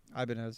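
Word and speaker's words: Ibanez: Ibanz. Yeah. Ibanis. We call it Ibanis in Brazil.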